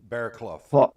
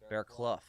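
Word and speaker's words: Bearcloud: How did he say it was pronounced on the podcast? He said Bear. Bear Clough. Bear Clough. Bear Clough.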